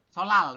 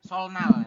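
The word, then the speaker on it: 설날: l realnya enionnya ya jadi sol solal Bukan solnal tapi solal hari raya solal seperti itu bukan hari raya solnal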